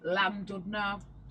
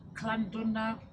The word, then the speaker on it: Llandudno: The double L, I think it's pronounced with as a C, I think. So, like, such as, there's a place that I would pronounce as Llandudno.